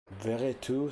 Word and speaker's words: Veretout: And this Or confrontation is Vertu, I underway. don't know how it's pronounced. Probably not Veretout, since there's no accent aigu on the E. Probably Vertu. And then I don't know if Dallo is pronounced Dallo or Dalot.